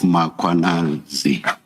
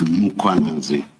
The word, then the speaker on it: Mkhwanazi: You repeatedly talk of mazali. There is no a right at the beginning of uh that first syllable. The a is after the h. So it's muanazi, not mazi.